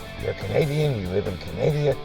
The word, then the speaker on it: Canada: Yes, it's Canada. I'm sorry, folks, but I'm not going to refer to any country with the last syllable of duh.